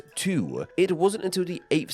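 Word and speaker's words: 荼: plant however is this and it's pronounced as two it wasn't until the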